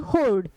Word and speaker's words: horde: चलिए कंफ्यूजेबल वर्ड HOARD होर्ड और HORDE होर्ड, दोनों का सेम प्रोनाउंसिएशन।